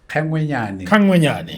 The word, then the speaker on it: Kgengwenyane: Kgengwenyane.